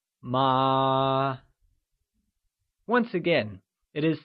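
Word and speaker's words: 麻: Note that hemp, which is a variety of fabric, translates to ma, and is pronounced using a mid-rising tone, also called the second tone. Let's try and say ma.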